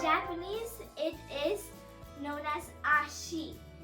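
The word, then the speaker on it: あし: Today's last word is leg, which in Japanese it is known as Ashi. A-S-H-I.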